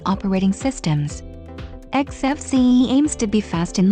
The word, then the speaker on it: XFCE: to xfc exfce or xfc pronounced as four individual letters is a free and open source desktop environment or Linux and other Unix like operating systems xfce aims to be fast